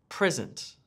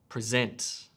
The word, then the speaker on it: present: So the words on the left have emphasis or stress on the first syllable, and the words on the right have emphasis or stress on the second syllable.